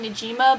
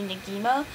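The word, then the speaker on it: Negima: haven't yet another one I have is a neima some people call it Nima but if you go by the like Japanese like pronunciation it would be ngima um and it's okay I'm not crazy about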